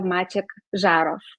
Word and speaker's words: Maciej Zarow: thank you very much you pronounced my name as a Polish person completely so you you are not not you are not pronouncing it like like a foreigner very good okay I